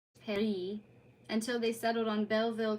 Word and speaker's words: Paris: Corny combinations of words like magazine, Vin, Pain, Paris, pronounced Perry, until they settled on Belleville Cafe, bringing a flavor of the 19th Arondisment to just south of the A1.